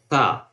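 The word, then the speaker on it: ثاء: When you pronounce, you just try to touch the tip of your tongue with upper front teeth on the back side of teeth, you can pronounce tha.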